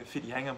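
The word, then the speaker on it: Whitianga: may 2021 and i'm infidelity spelled with the wh for those of you who don't understand maori uh spelling it's if you're trying to look it up where fitianga might be it's uh the base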